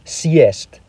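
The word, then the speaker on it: съесть: For example, let's look at the word siest meaning to eat up. If the hard sign is removed, it becomes cyst, which means to sit.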